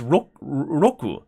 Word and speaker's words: Roku: No, Roku is genius actually because rock in Japanese pronunciation is Roku.